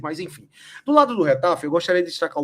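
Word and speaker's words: Getafe: Vamos descobrir a pronúncia correta do time, tá? Retafe. Retafe. Retafete. É assim como no dia lá do Fenerbat, a gente descobriu a pronúncia correta, fica aí a informação que é retaf.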